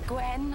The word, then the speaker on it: Gwen: meet the Torchwood team Gwen one syllable sure you can manage it not sweet cheeks we